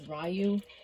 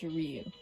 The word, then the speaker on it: Ryu: now first up to anyone who says rayu unsubscribe I'm joking I'm joking but it's pronounced Ryu if you want to know